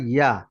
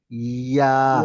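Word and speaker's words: ياء: আর এর আগে একটা কিন্তু আওয়াজ আসে, ই ইয়া ইয়া ইয়া। ইয়া ইয়া সবাই ট্রাই ইয়া করেন একটু, যেবার মাঝখান উপরে তালুর সাথে ইয়া চাপ দেন।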